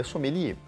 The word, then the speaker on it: sommelier: Familia começando pelo começo a palavra tem origem Francesa e se escreve desse jeito que tá aqui aparecendo para você sommelier e se pronuncia assumiria isso relacionado aos homens